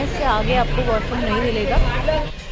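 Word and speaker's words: Mollem: है मोली national park वो वैसे मोलन है मोलम करके लिखा हुआ है बट बहुत सारी चीजों में यहां पे एम जो है साइलेंट है तो मली नेशनल पार्क बोलते हैं उसको एंड यह भगवान महावीर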